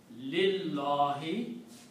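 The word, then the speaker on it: لله: pronunciation, whenever we combine, we don't pronounce this alif again. Just like in Alhamdu, we did the same thing. So this pronunciation, or in Allahu, this alif we did not pronounce. Now this lam is going to take out this alif again. It becomes Lillahi. The pronunciation is Lillahi, for Allah.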